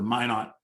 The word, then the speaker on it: Minot: also the mnemonic for for minot north dakota is why not maya not so thank you uh to the person who put that in i do appreciate that i do not want to mispronounce minot um it's this is